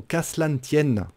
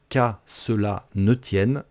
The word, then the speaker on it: qu'à cela ne tienne: juste en dessous l'expression casse la tienne on mange des lettres quand on la prononce qu'à cela ne tienne on dit qu'à cela